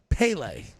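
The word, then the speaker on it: Pelé: Pele. P-E-L-E. Pele. No. No. If you saw the word P-E-L-E, how would you pronounce it?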